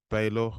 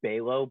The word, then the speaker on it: Balogh: aka the is it Baylor or or it's pronounced Balo but a lot of people normally get it